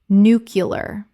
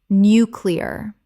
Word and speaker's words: nuclear: JIF GIF Word 79 nuclear Common mispronunciation nucular Correct pronunciation nuclear Three syllables. The word is nuclear, not nucular.